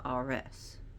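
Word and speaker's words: Ares: another no he is not or as he's pronounced RS he is not RS AKA Aries those are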